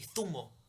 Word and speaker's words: zumo: But it's with a Z, so it's actually zumo.